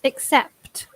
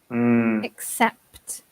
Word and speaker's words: accept: I noticed another word which is quite difficult to pronounce, accept. Accept. Because we have a k and a s together.